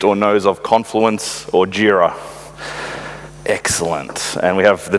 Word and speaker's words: Jira: it's atlassian and it's jira jira is from the Japanese Gojira which is Godzilla which is like bugzilla